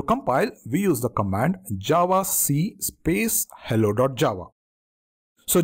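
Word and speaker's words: javac: class which includes the Java bite code and to compile we use the command Java c space hello. Java so Java C or javak as a it is often pronounced is the Java compiler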